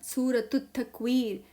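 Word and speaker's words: سورة التكوير: अबसा सूर अबसा 81 सूरतु तकवीर सूरतु तकवीर ये दोनों साइलेंट हो जाएंगे राइट सूरतु तकवीर सूरतु तकवीर यह मैं इसके नीचे क्रॉस कर रही हूं।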